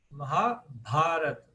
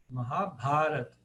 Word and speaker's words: Mahabharata: Agora, vocês vão reparar aqui que a longa é o Ba. Então, Mahabharata. Mahabharata. Não é barata, é Bharata. Por quê? O terceiro A de trás para frente é o longo. Aí ficou Bharata, Mahabharata.